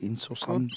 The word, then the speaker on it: Innocente: Innocente.